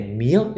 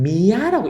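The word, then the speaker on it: mía: 사탕수수 아시죠? 능 미연데 미어잖아요. MIA인데 미어 싹 해서 미연데 어떤 분들은 미아라고 읽는 분들이 있더라고요. 그런데 여러분들 잘 들으세요. A가 모음 뒤에 오면 무조건 발음이 어로 납니다.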